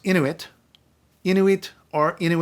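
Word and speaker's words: Inuit: into it in which by the way is pronounced into it you knew it or into it not in we I saw a book a while ago that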